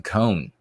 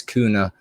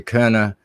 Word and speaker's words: Köhne: He says Cohn. It's not an easy name to pronounce. And for pronunciation purposes for English speakers in the books, I have it as Kuna, and it's actually Köhne. So it's a little different since it's a German name, but HB is big